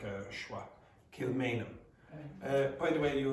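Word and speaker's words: Kilmainham: So in this you don't pronounce the H. Okay. Kilmanum. Okay. This a a is pronounced like awah. Kilmanum.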